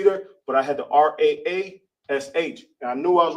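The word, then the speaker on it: ראש: In Hebrew, it's pronounced Ra Ash.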